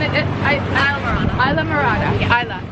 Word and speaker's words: Islamorada: you say it okay so tell me again Isa Mora isaa thank you okay one more time take